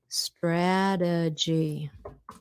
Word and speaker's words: strategy: Strategy. Strategy. Strategy. Strategy. See, look that T in between two vowels. We turn it to a D strategy.